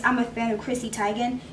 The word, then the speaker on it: Teigen: And honestly, this palette, like, I only got it because I'm a fan of Chrissy Teigen. Pronounced Teigen, I actually learned that recently.